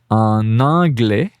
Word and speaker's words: en anglais: Again, I do the little link here, liaison, en anglais.